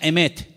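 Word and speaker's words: אמת: Y la palabra verdad en hebreo se pronuncia emet.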